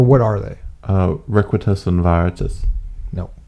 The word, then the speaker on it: Veritas: The V is pronounced with a W sound in Latin.